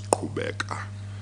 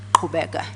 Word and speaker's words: Qhubeka: If that is Zulu, it would be pronounced as Qhubeka. Qhubeka.